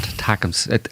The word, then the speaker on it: ATACMS: ATACMS. Come on, you get it right. It's very important. ATACMS. That's why they use that acronym. So you could pronounce it as ATACM. Really? Like it didn't attack- help my brain. I just look at it and go, that's not a word. It is. It says attack them.